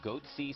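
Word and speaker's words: Goatse: They're called Goatsy Security. Is that my pronouncing that correctly?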